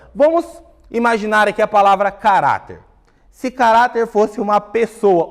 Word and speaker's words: caráter: Caráter! Opa! A penúltima sílaba foi a sílaba que durou mais. Então, nós falamos que essa palavra ela é uma palavra paroxítona.